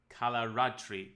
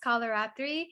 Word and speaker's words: Kalaratri: Can you share a little bit about the goddess Kalaratri? Did I pronounce it correctly? Yeah, you did. Kalaratri. Good job.